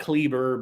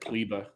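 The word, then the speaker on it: Kleber: what's his name cleveland it looks like klieber but i think they pronounce it clibba clibba anyway luke's got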